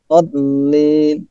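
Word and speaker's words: الضالين: Dollin. Dollin. Karena ada alif, maka panjang dulu baru ditasdid. Dollin. Dollin. Jadi double. Lamnya double. Lamnya itu double ya.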